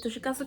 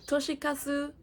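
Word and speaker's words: Toshikazu: Next, we have Before the Coffee Gets Cold by Toshiasu Kawaguchi. Oh, I pronounced that weird. Come on. You're studing Japanese. Uh, Toshikasu Kawaguchi. I'm pronouncing it with an English accent.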